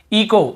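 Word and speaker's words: echo: इको, इको, यहाँ पर भी एच, ईचो नहीं पढ़ेंगे, सी एच को चा पढ़ते ईचो नहीं, इको ही पढ़ेंगे, क्योंकि रूल यही बोल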